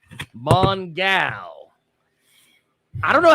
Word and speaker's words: Mongal: Is playing Mongal, not Mongle. Mongal.